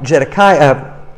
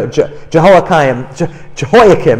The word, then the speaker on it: Jehoiakim: the incompetent King while jedekiah um am I saying his name wrong here yeah jehalakayam excuse me is more evil bad